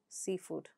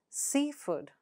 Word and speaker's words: seafood: So, in a compound noun, the first word takes the stress. For example, seafood. How do you pronounce it with stress? Seafood.